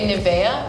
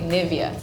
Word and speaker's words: Nivea: on the eye yeah I think you would say Nevaeh we would say Nivea yeah far away but it's like very very similar but you just pronounce in a very American way that's it it also